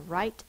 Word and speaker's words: write: r i r and this word has a silent w r i is just one I and T now to make this I say it's long sound we use a silent E to make the I